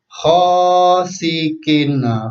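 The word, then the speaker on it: غاسق: Kalau yang kedua, yang Bapak beri tanda panah berwarna kuning ini dibaca sin biasa. Sin. Sin. Jadi khosikin.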